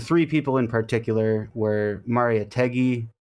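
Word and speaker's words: Mariátegui: people in particular were Maria tegi or Maria teji I think is how you're supposed to pronounce it who described the oppression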